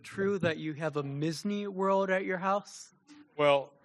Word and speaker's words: Misney: my name's Misney, Misney as in Disney, but with an M and no E.